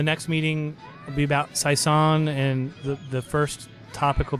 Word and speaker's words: saison: Okay, so the next meeting will be about saison, and the first topic will be how do we pronounce that? Because I talked to a guy from Belgium. He said saison. Saison. It's like croissant, only saison.